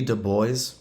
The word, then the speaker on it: Du Bois: side back then w.e.b du bois rhymes with voice and booker t washington